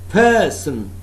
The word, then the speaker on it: person: Person, person, percent. Person, first syllable is stressed, accented one, accented one.